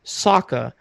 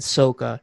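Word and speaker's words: Sokka: barrel in the show they pronounce his name aang they pronounce the name saka why does he pronounce it in the movie as ong and soka it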